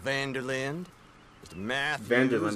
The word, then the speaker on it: Van der Linde: Van der Linde, that's how you pronounce it, guys.